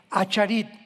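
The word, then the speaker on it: אחרית: Postreros es arit, así como suena con ch. Se pronuncia ait, aharit.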